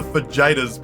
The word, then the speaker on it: fajitas: I remember my dad saying a hard J to the waitress and me correcting him, only for him to double down and explain to me that he, being named Jim, experience pronouncing the J sound and doesn't need my help.